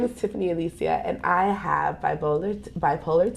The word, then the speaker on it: Allecia: my name is tiffany said my name wrong one more time hi everybody my name is tiffany alicia and i have bipolar